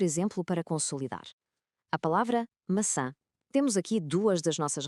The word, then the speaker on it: maçã: Primeiro, o C com cedilha. Já sabemos, este transforma um som K num som suave de S. Depois o til no A final. E o que é que isso faz? Nasaliza essa vogal. Juntando as duas peças, temos maçã.